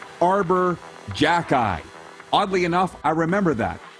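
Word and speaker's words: Xhekaj: And regarding that Montreal Canadiens prospect who none of us knew who he was, from Bugman watching on Twitter says it's pronounced Jack-Eye. Arbor Jack-Eye.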